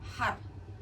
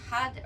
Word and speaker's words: Har: you're also going to chant har. If you can't roll your R's, then you can say had, but it's either had or har, har.